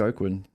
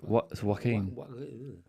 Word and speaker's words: Joaquin: I just look at it, but I can't even pronounce it. Joaquin. Joaquin? Yeah, it's Joaquin.